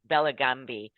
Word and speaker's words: Bellagambi: borders and our delightful guest today is Juliet bellambi did I pronounce that correctly yes you did Juliet awesome